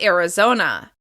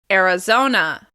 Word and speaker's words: Arizona: Next up, we have Arizona. Arizona. The stress is on the third syllable.